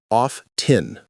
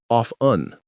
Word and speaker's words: often: How most people say it is off-tin, with emphasis on the T. How to say it is off-un. The T is almost silent. The T is barely pronounced. It's a soft sound.